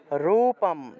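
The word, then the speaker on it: রূপং: দেবস্য দেবস্য বারেণ্য বারেণ্য রূপম জয়ম সিনহা রূপম এখানে দেখুন অনুস্বার শব্দের শেষে আছে তাহলে রুপাম অনুস্বার থাকলে ম উচ্চারণ হয় ম রুপাম শব্দের শেষে থাকলে ম এর মত উচ্চারণ হয় শব্দের মাঝখানে থাকলে ন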